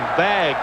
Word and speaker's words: vague: The fans here at Olympic Stadium doing the vag v a gu, which is the French pronunciation of the wave.